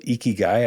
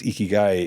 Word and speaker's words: ikigai: the Japanese culture there's a concept it's called ikigai I think is how it's pronounced and it's this diagram of where an